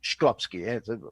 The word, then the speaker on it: Shklovsky: Tal es así que años antes, otro prominente cosmista, en este caso, llamado Yosif Shklovsky, así, Shklovsky, pronunciación, era además, no era ruso, era ucraniano, un astrónomo soviético, ¿no?